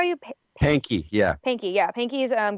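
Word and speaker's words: Pahnke: P A H N K N K E Pankey is that how you pay Pankey, yeah. Pankey, yeah. Pankey's um Good Friday experiment where he um so Pankey went around and he um talked to mystics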